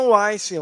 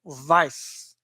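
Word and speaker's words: Weiss: E o Brian Wesen, ou quem queira pronunciar em alemão, Brian Weis, né, que tá com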